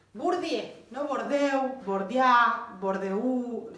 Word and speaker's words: Bourdieu: ¿Qué más agrega Bourdieu? Bourdieu, no Bourdieu, Bourdieu, Bourdieu, se escribe de una manera, pero se dice Bourdieu.